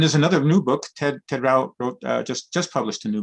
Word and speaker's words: Rao: And you wrote a book with Ted Rao. Is it Rao? Yeah. Is that how you pronounce? Ted Rao, yeah.